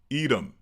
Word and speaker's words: Edom: Well, in English, we pronounce it Edom.